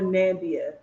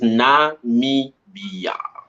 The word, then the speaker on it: Namibia: Let me teach you how to pronounce this one. Is Namibia. Namibia. Every time you say Namibia, you remind me of Donald Trump. Namibia. Like I didn't even see the eye. Like the eye. The eye.